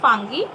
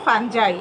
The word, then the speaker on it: fungi: Next, we will know about the kingdom fungi or fungi, as you can pronounce.